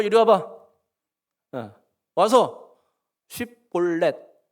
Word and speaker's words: 쉽볼렛: 와서 쉽볼렛 발음해봐. 쉽볼렛 해보세요. 시작. 혹시 십볼렛 한 사람 있습니까?